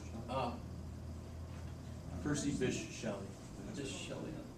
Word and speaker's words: Percy Bysshe: Piercy, I don't know how to pronounce it. Piercy Bichet. Ah, Percy Bysshe Shelley.